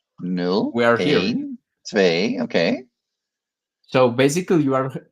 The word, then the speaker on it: twee: We say twee, but it's pretty good. Not bad. Not a bad pronunciation at all.